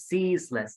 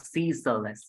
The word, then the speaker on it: ceaseless: good CE excitement good it's pronounced as it's pronounced as ceaseless not seeless it's seeless excitement Seas excitement okay good continue